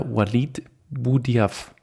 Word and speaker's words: Walid Boudhiaf: So just follow him as well on Instagram as well, under WALID BOUDHIAF. Do I pronounce it right, Walid? Yeah, perfect. I know it's hard to spell, but you pronounce it right.